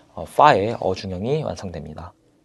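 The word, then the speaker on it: فاء: 대해서 한번 알아보겠습니다 이 잠은 빠 라고 부르고 요 영화 알파벳의 f 발음 과 유사합니다 4 먼저 독립형 을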